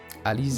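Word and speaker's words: Alisaie: but alfono laveyer and alize your applications have also been approved having said that the french pronunciation would be alizer not ali ali zay it's alize but alize sounds better i think the streets are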